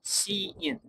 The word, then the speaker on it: cin: While scene is pronounced C in, scene, used for input and uses the extraction operator.